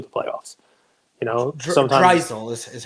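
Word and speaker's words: Draisaitl: You know, sometimes Drysdale is how you say his name.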